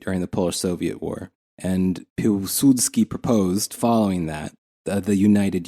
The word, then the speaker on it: Piłsudski: Piłsudski. Yes. It's got that stupid Polish L with the line through it. Yes. The W.